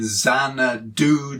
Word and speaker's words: Xanadu: In Xanadu did Kubla Khan, did-dum, did-dum, did-dum, did-dum.